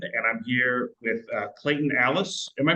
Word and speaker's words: Allis: This is Patrick Bracken with the Shauna Foundation, and I'm here with Clayton Allis. Am I pronouncing that last name correct? Yep, that's you Okay. got it. Alice in Wonderland.